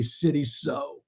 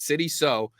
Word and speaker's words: Sidy Sow: It's Sidy Sow, like you're sewing a shirt. All right, Sidy Sow, we've got that figured up.